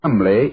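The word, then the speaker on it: Cholmondeley: had no reason to know that the name Chumlee is in no way pronounced the way it is never thought of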